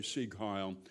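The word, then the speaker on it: Sieg Heil: and and and you had to say see kyle and pronounce it correctly and your right arm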